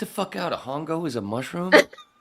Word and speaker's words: hongo: __ ] out a hongo is a mushroom it's it's Ono H is silent h is silent in Spanish but it goes along